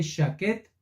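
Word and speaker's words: שקד: Las palabras almendro, mira qué interesante, y apresurarse se pronuncian igual en hebreo. ¿Qué tiene que ver almendro con apresurarse? Pues en español nada, no suenan ni parecido ni significan lo mismo, pero en hebreo almendro se lee shaket y en apresurarse se lee shakat.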